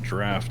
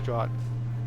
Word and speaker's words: draught: Well, we pronounce it draft, I think, in the U.S. Do I don't we? know. Yeah. I Maybe. always just thought it was draught. I've never heard it aloud.